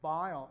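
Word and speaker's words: Weyl: germans hermann bile so some people say vile and actually is the right pronounce asia's like izing and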